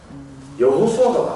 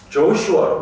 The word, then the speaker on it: 여호수아: 영어권의 사람들은 이게 발음을 할 줄 몰라서 그래요. 여호수아가 맞거든요. 근데 영어 사람들은 여호수아를 발음을 못하니까 뭐라고 해요? 조슈아라고 해요. 이게 틀린 발음이죠.